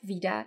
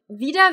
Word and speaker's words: wieder: me say one thing Vida vida is something that native Germans mess up all the time one because it always sounds like it's a long e so a lot of